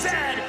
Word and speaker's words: Zed: is a coach and it is pronounced Zed not z z Canada is the second